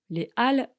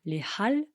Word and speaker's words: Les Halles: Les Halles, attention, ça s'écrit avec un H. Mais on ne le prononce pas. On ne dit pas les Halles, mais les Halles.